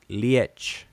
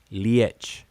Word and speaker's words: liech: concept is linked to a different form it's pronounced liech liech and it's spelled l-i-e-c-h this concept being glued